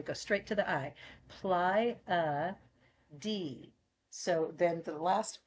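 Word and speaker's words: Pleiades: straight to the I ply a d so then the last e is heard and it's long so forget the first e and emphasis on the last e ply a pades so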